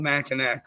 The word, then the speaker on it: Mackinac: Mackinac. It's spelled Mackinac, but it's Mackinac.